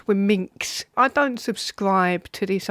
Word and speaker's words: womxn: That's when it's spelled WOMXN, it's wominks.